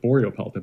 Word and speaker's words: Borealopelta: wanted to go something shorter like boreal pelta but that's actually already taken by uh another animal so we had to actually add the extra syllable and make it a little bit harder to pronounce um the boreal part